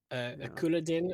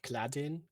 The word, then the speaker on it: Couladin: Couladin at some point is called Cladin, which is... It's because they take the O and the U and just slap them together.